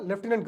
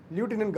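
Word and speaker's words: lieutenant: So Delhi and Puducherry இவங்களுக்கு வந்து யார் வந்து இன்சார்ஜ் அப்படின்னா லெஃப்டினன்ட் கவர்னர். இது வந்து ஃபஸ்ட்டு தெரிஞ்சுக்கணும். ஸோ என்னென்னா டெல்லி அண்ட் புதுச்சேரிக்கு யார் வந்து இன்சார்ஜ் அப்படின்னா லியூட்டினன்ட் கவர்னர். ஸோ தப்பாக ப்ரொனவுன்ஸ் பண்ணிவிட்டேன், லியூட்டினன்ட் கவர்னர். ஸோ இவங்களுக்கு வந்து பார்த்தீங்க அப்படின்னா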